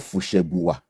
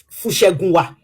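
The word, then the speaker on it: Fusengbuwa: Okay, as an Ijebu man, first of all, I pronounce it for you. It is called Fushegunwa. Fushegunwa. Fushegunwa.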